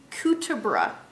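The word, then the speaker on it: Cuterebra: in the doctor and it's actually kutabra it's spelled cuter bra but it's cuter worm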